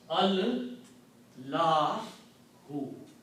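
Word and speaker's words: الله: an alif in between, we don't pronounce alif. So the word becomes al, Lahu. Okay. See again. Al-lahu. So we don't write this alif here, and it is written like this. Allahu. Okay. So the Arabic word is not Allah.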